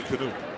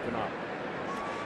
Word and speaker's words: Knoop: Now, did you follow him closely enough where you would have pronounced Bobby Knopp's name correctly? Or would you have said Bobby Knoop? No, Knopp. You would have said Knopp.